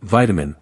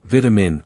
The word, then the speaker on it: vitamin: In American English, we say vitamin, not vitamin, with even syllables. That middle vowel becomes less clear and turns into the subtle schwa.